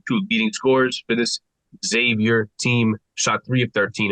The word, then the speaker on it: Xavier: good for a game that you know that's Xavier game and it is it's Xavier not Exavier Kyle guy hey man I can't do nothing